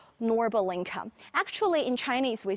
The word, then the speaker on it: Norbulingka: showing you this lovely park, which we call Norbulingka.